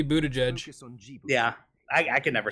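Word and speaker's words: Buttigieg: you were mentioning what budich right yeah I think it should be Buddha judge yeah I I can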